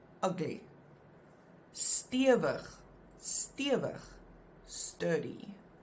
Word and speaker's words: stewig: These words that we're going to look at now, the examples, they have always been written with only one vowel, and you always pronounce them as a langklank.